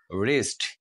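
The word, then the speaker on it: wrist: wrinkle not W wrinkle W অথবা কি বলা উচ্চারণ করা যাবে না ডব্লিউ বা ডব্লিউ নয় রেস্ট কবজি আমাদের কবজি রেস্ট রং এখানে আমরা দিয়েছি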